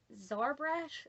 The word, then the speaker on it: Xarbrash: going to be making zarbrash i hope i'm saying that right x a r b r a s h i think is how it's spelled the x should make a z sound so sorry brush excuse